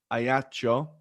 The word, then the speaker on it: Ajaccio: Ajaccio, which is, I believe, they're like the only